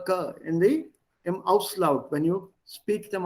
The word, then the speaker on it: Kind: Kint. Words ending with b, d, and g, b, d, and g. They are pronounced with a p, t, and k.